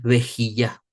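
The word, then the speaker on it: בכייה: Es vejilla. Vamos a ponerlo aquí. Vejilla. Y se escribe Bet con Sheva.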